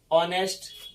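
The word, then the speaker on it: honest: फिर जैसे हम कहेंगे, मान लिया जाए कि ऑनेस्ट चाइल्ड, क्या कर देंगे, ऑनेस्ट चाइल्ड, तो इसको बोलने में ऑनेस्ट, ऑनेस्ट इन H silent रहता है, ऑनेस्ट, इसमें क्या लग जाएगा, एन लग जाएगा।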